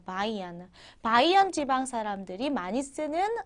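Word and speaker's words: Bayern: 남부 지방이라고 하면요 대표적으로 바이에른 주가 있거든요 바이에른 주는 독일어로 바이언이라고 해요 바이언 바이언 지방 사람들이 많이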